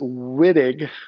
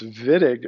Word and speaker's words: Wittig: name of georg vidiq don't pronounce it Wittig that's improper in German it's vidiq reagent it's right here